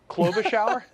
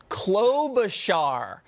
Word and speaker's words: Klobuchar: Now, the Minnesota woman who apparently throws shoes at her staff, Amy Snow Globe Klobuchar? Klobuchar. I had too much shear on the char.